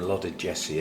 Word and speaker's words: loddigesii: I'm Froot Loops today this is my Dendrobium allotted Jesse I let me guess er ya ever you like soft G I think um and